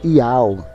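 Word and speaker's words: יהוה: Só que Iá é uma abreviação da pronúncia Iau, que é Yud, Re, Vav, Re. O Re é mudo. É o YHWH, o H é mudo. Então é pronunciado Iau.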